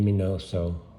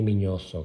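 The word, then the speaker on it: Miñoso: up picking up the autograph mini minoso or how you really should pronounce it the mini mini also card and um he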